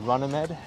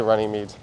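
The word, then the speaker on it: Runnymede: is just say Roxy there's a street that's that looks like runny Mead but it's running Med people say runny meat oh running meat okay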